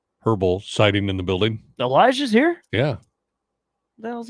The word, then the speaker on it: Elijah: Elijah. You pronounce the J.